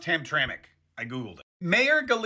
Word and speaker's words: Hamtramck: way I know it's spelled ham but it's pronounced Hamtramck I Googled it mayor gal is a Muslim